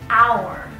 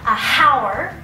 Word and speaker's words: hour: The second exception is if the word begins with a silent H, an hour. Right? Because we don't say the H sound, we don't have a h, it's not a hour, right? So an hour, because you have the very strong ah sound, the vowel sound, right?